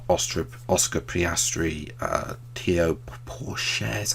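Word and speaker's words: Théo Pourchaire: people who've been performing well, like Oscar Piastri, Theo Pourchaire, is how you say the name, and all those other F3 graduates, which is a shame.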